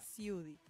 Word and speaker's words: Siudy: Y Ciudi se escribe S-I latina U-D-Y. Perfecto. Ahí está. Ciudi.